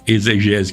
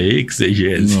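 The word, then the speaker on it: exegese: Não é nem exegés que pronuncia exegésic.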